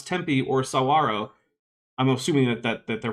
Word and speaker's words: saguaro: Roshan, a lipstick to Equiskeller for $4.99 says, or listen to people pronounce Tempe or Sawaro. I'm assuming that they're pronouncing it Saguaro.